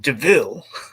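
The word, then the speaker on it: de Vil: I mean, they complement each other very well, and basically kind of have this almost Devil Wears or DeVille Wears Prada mentorship, which it's devil, but it's pronounced DeVille.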